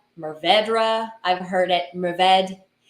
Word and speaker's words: Mourvèdre: I've heard it Mourvèdre. And if I'm in the mood to do a little like flair on the R, I'll go a little bit closer to the French pronunciation of Mourvèdre.